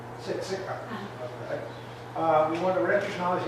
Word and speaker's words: Siksika: And so we want to recognise you for your work as an Aboriginal curriculum teacher at, how do you pronounce it? Siksika. Siksika.